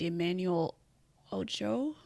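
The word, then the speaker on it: Emmanuel Acho: Someone named Emmanuel Ocho. And is how you pronounce it.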